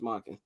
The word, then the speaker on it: Monken: Todd Monken, yeah, offensive how do I pronounce that? Todd Monken. It's Monken.